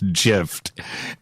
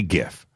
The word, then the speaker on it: GIF: it's supposed to be gif well i say gif you know and that's it but you're right though i like the graphical interface file so if that's the case it's a hard g so why would you